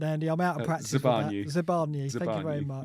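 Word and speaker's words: Zabarnyi: What is the pronunciation, Andy? I'm out of practice. Zabani.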